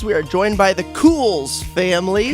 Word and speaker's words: Kuhls: Cool. Did I nail it? Yeah, you got it. Yeah, Kuhls. I'm going to describe it so y'all know how special that pronunciation was. There were like 3 or 4 we were cycling I thought through. it was calls, but I was wrong.